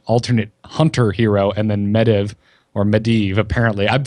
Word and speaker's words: Medivh: Yeah, or and it's Medivh for mage.